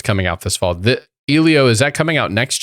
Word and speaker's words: Elio: How should I pronounce that, Eddie? Elio, and it's not Disney Animation.